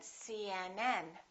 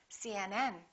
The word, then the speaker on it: CNN: u a p HD the rule is we stress the last letter of an abbreviation for example CNN UCLA